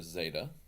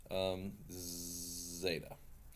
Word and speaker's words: zeta: work with this tablet Zeta and again quickly on pronunciation technically it's more of a DZ sound like as a de but yeah the letter